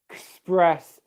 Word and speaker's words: express: So, in summary, the correct way to pronounce this word is express, express, express, express.